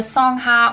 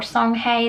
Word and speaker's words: Songhai: once you get to the Songhai or songhay depending on how you want to pronounce it once you got to